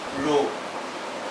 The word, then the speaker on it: rho: So this is what I have written here, that pressure P is proportional to density rho. The pronunciation is rho, it's a Greek letter.